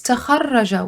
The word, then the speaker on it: تخرج: So now we're going to move to the second form of today's class is تخرج, which rhymes with تفعل, the fifth form.